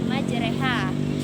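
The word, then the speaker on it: مجراها: usaha di sana dari kata madzhab jadi ibu bacanya menjadi majreha bisa naik malah cuma ada satu di dalam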